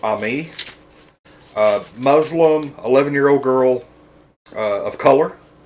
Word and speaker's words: Amy: Okay, first off, the girl's name is spelled Amy, but I guess her name is Ami.